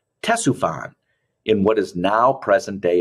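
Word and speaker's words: Ctesiphon: of the route was the tess ufon that's how you say it tessufan in what is now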